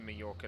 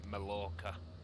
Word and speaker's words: Mallorca: on our way into Majorca now Mallorca keep saying it wrong Majorca I don't do Spanish too well Mallorca okay let's uh speed